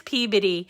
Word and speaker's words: Peabody: It is Peabody. And it's funny, everybody has a problem pronouncing it, and that's how we know that they're not local, right?